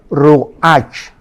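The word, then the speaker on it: רוח: hebrea para espíritu es Roach pero la ch en hebreo se pronuncia como J es rugajá como j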